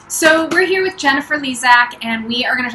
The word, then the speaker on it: Lezak: We are live today with Jennifer Lezak. Did I pronounce that right?